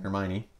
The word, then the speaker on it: Hermione: Okay, so then we got Hermione. That's how you say it, right? Mm-hmm. Hermione.